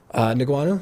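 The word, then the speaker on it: Ngannou: So to go into MMA, How do you pronounce Francis' last name? Who? Francis' last name, big heavyweight. Niguanu?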